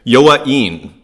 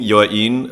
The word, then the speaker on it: Yoain: Yoain. That's how you pronounce the name, Yoain.